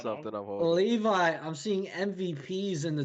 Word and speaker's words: Levi: Is it Levy or Levi? I want to say it right. Levi.